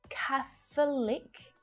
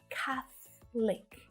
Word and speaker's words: Catholic: This one's tricky because of that TH sound, right? You might find it easier to keep that extra schwa sound, that extra syllable in there between the th and the l consonant sound. So this one, I understand if you're having a little bit of trouble with it, but you'll hear Catholic, 3 syllables, or Catholic. Shorten it right down to just 2.